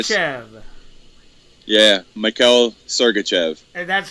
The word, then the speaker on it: Sergachev: I I believe so it's Chev yeah Mel sergachev and that's how you say it the only